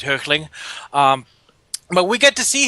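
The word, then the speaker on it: Hoechlin: see Tyler hook earthling how do you pronounce his name because I'm gonna go to the German Oakland okay because I would go for the German pronunciation which is hurtling but we get to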